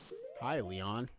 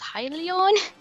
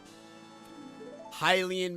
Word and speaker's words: Hylian: Hi, Leon. That's what one Zora kid in Breath of the Wild pronounces Hylia. He says, Hylian?